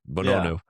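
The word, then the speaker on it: Bounou: Bonu. Bonu. Bonu. That's it. Bonu.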